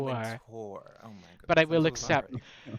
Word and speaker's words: Wintour: Anna Winter. You didn't pronounce it correctly, but I will accept. It's Anna How do you Wintour. pronounce- Anna Anna Wintour. Wintour.